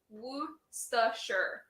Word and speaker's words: Worcestershire: The enunciation is Worcestershire.